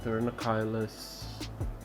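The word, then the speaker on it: Pterinochilus: also known as the thernokylas turnoculus mirinus depending on how you pronounce the genus but i call it turn oculus so let's see if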